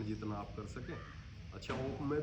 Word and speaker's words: ओम: आप कर सके अच्छा ओ में भी ये है कि ओम जो है वो तीन शब्दों से है उ और मैं तो जैसे अ की